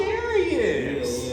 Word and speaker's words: Jarius: I always say like Darius Rucker. That's the only black country singer that they know. Like Darius Rucker with a J. They're like, oh, Jarius.